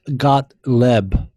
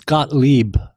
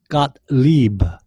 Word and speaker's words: Gottlieb: the way a green-green it's not got leb it's Gottlieb you don't even pronounces howdy how can you even talk about the FDA when you can't even pronounce the FDA commissioners last name it's not Scott got Webb it's Scott got Lieber anyway so says Gottlieb